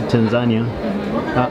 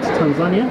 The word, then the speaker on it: Tanzania: property and a person who's never been to Tanzania, but I was told I say it wrong. How do you say it? Tanzania? Tanzania. Tanzania, okay.